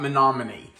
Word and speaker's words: Menominee: go to Google and try to find the pronunciation for the name of your town because I just wasn't sure about Menominee.